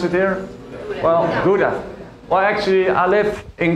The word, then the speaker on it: Gouda: That's how you pronounce it here? Well, Gouda.